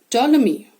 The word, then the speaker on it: Ptolemy: type of small fish ptolemy they've shown you how to pronounce it the p silent newt a small animal